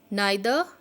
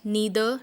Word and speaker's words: neither: Neither nor, or you can say it as a neither nor. You can pronounce it as both way and both are correct.